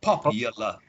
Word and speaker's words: popular: Pop y l with a schwa. Popular. Popular. Popular. Popular. Another 2 schwas.